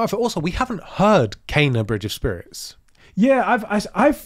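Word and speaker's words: Kena: they've heard it, but what they heard was the PlayStation announcer saying it. When in the game, I swear I heard someone say Kenna. I feel like I heard Kenna.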